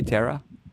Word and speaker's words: Tara: Tara's open. She's She's Am I pronouncing your name right? Is it Tara? Just in case. You want me Do you want me to say Tara? Yes, it's Tara. Yeah, I would I wasn't